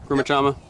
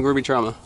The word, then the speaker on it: Grumichama: Grumichama. Yep. Grow you out some Grumichama.